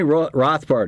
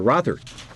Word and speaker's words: Rothert: Tony Rothbard is with us, or Rothert. Am I pronouncing that right, Tony? That's correct.